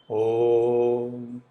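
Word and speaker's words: ॐ: Omkara is only 3 matra. Om. That is the right way to say omkara.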